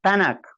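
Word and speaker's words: Tanakh: su Biblia que tanak tal como lo estoy pronunciando tanak ya de donde se derivan las tres del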